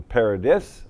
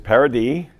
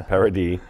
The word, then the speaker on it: Paradis: for a good dozen years everybody calling him paradis or paradise it is parody um i have half of my family was